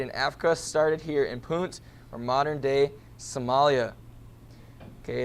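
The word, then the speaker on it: Punt: Gulf of addin with the people of it's pronounced pun pun most likely modern-day Somalia as you can see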